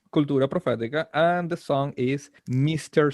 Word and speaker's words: Cultura Profética: And if I pronounce it a little bit more American, Cultura Profetica. And the song... You can keep it the way it is. Yeah, Cultura Profética.